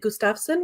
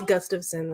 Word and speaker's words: Gustafson: Most people pronounce it Gustafsson, which it's not technically how it's pronounced, or the way my family pronounces it. However, I get why people would pronounce it that way because it means son of Gustav. So Gustafsson would make sense, but yeah, it's Gustafsson. It's like a gust of wind, but sun instead of wind.